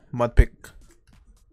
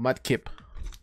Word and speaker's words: Mudkip: And another Mudpick. Or Mudkip. Pronouncing that wrong.